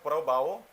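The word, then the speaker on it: Prabowo: तो इनको अगर बढ़िया से प्रणन किया जाए तो प्रोनाउंसिएशन होता है प्रबाओ, है ना, सुबियांटो इनका नाम है, प्रबाओ सुबियांटो, है ना, प्रबाओ सुबियांटो।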